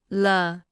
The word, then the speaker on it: 了: 了了了了了了了 Se pronuncia con el tono neutro.